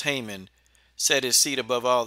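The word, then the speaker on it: Haman: from the Bible where a wicked man named Haymon, pronounced Haymon, set his seat above all the princes that were with him.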